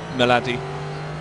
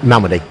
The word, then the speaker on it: Malmedy: he has another chance as he comes around Melody or Malmedy. Have I got the name wrong? Malmedy.